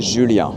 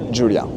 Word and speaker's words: Julien: But my name, we pronounce it Julien. I always say Julien, but it's Julien.